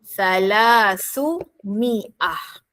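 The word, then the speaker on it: ثلاثمائة: Dengan syarat buang sebutan ah pada perkataan salasah. Maka aa dan gantikan dengan baris hadapan atau kata lain gantikan dengan huruf u. Maka jadilah bunyi salasu gabungkan dengan niah. Jadi jadilah bunyi salasu miah.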